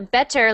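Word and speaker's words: bettor: And a better like this is still pronounced better, but it means someone who bets money, which is like a gambler.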